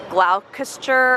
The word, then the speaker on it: Gloucester: It's spelled like what you would think would be like Gloucester or something, but it's Gloucester.